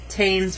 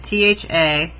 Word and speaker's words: Thames: most famous river in england and that's the taynes river so i'm going to label it it's t-h-a really hard to see with all these lines t-h-a-m-e-s the thames river okay and then we're going